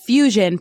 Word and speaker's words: FEWSION: just in case you might not know that fusion part of the title crucial Fusion is spelled f-e-w-s-i-o-n as opposed to f-u-s-i-o-n-f-e-w stands for